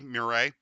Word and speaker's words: Marat: Uh It's for It's spelled m u r a t, Marat.